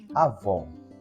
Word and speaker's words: avó: pegar aqui dois exemplos Vou colocar aqui a palavra avó a vó a vó Olha o oó oó o ó tem timbre aberto a vó e por isso o acento gráfico a Cil B tônica aqui é vó o assento gráfico é o assento agudo que indica que o timbre desse o aqui é aberto porém se eu pronunciar